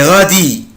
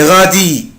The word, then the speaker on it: radis: Des radis, des radis, des radis, des radis, des radis, des radis, des radis, faigle. Ici je ne prononce pas la lettre S, مش بنطق طبعا حرف الاس.